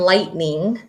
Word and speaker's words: lightning: There's the GH in lightning. I don't hear the GH, so we're looking for those silent consonants.